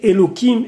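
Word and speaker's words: Elokim: lorsqu'on parle d'autres divinités font attention à prononcer hello Kim et pas Héloïse mais en tout cas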